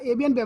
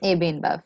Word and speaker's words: AB InBev: Yeah, AB and Bev. Now, that's how you pronounce it. AB Yeah, and Bev. AB InBev, yes.